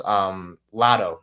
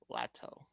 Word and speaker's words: Latto: if you've seen it, but Malik Neighbors loves Lotto, the rapper. Oh. She's good. She's really good, by the way. She's very attractive. To Malik. How do you spell it? I've never heard of her. Latto.